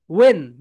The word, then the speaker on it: when: এখানে এই দুইটা সাইলেন্ট থাকে মাই ডিয়ার সোলজার্স। ওয়েন, এখানে শুধু ডাব্লিউ আর এই তো ডাব্লিউ আর এন এই দুইটার উচ্চারণ হয়। সাইলেন্ট লেটার নিয়ে আমাদের চ্যাপ্টার থাকবে। সো এখানে কি কিসের কিসের উচ্চারণ হয় বলতো? ওয়েন, ওয়েন। Okay my dear soldiers, এখানে এইচ আর এন সাইলেন্ট থাকে।